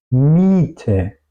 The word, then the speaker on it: Miete: mayoría de los casos, si queremos expresar en alemán una I larga, utilizamos la combinación de una I y una E. Miete, Sieger, Miete, Sieger. Pues básicamente sería si no existiría la E, ¿ok? Es solamente una I larga y eso marca la E después. Miete, Sieger.